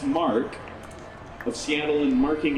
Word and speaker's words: Marquee: The Corvette Marquee Club, pronounced Mark, of Seattle, and marking its 60th year as one of the oldest Corvette clubs in America.